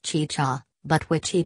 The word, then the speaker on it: chicha: said that the making of chicha which is pronounced chicha but which he pronounced ChaCha an alcoholic beverage made from fermented corn was